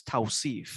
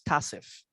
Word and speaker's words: Tauseef: My name wasn't pronounced in Guyana as Tauseef. It was pronounced as Tauseef. Tauseef. Yes. Okay. So they used to call me Tas. So when I came to the US, the pronunciation is different. So Yeah, yeah. that's how Tauseef came about.